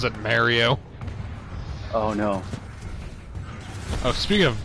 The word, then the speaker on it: Mario: If I hear someone say Mario, you know I'm gonna fucking throw hands with them. Fair play. This is directly subtweeting fucking Rush Frustic, you son of a bitch. It's Mario and you know it.